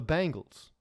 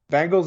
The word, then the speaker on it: Bengals: you think that's bad you should hear phil yates pronounce the football team in cincinnati he calls them the bangles every every time i see his clips when he's talking about like but bengals is like like americans